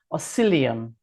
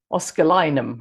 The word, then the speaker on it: Oscillococcinum: all the time is oscillium. And I'm always pronouncing it wrong, and I'm just holding it up for those who are on the video to see. Oscillinum, I should call it.